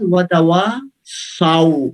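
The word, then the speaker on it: وَتَوَاصَوْا: اس کے بعد وتواصوا، صاد کے اوپر زبر ہے، بعد میں واو، وتواصوا بالحق وتواصوا بالصبر. یہ ہمارے جلدی پڑھنے کا بعض دفعہ یہ نتیجہ، آپ نے اچھا پڑھا ہے لیکن بعض دفعہ جلدی پڑھنے کا نتیجہ یہ ہوتا ہے ہم پڑھتے ہیں وتواصوا بالحق وتواصوا، سو نہیں ہے، زبر ہے، سو تو غلط پڑھنا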